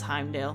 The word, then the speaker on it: Heimdall: It's Heimdall.